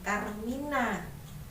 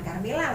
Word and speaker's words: karmina: Pantun ini disebut juga dengan Karmina. Ya, Karmina, bukan Karmila loh ya.